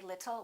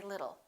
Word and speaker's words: little: It'll rhymes with the word little. We don't say little, we say little.